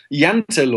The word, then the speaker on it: Jante: to Americans what is a Danish law of jante did I pronounce that right yes Yentl or well it's not an actual law bill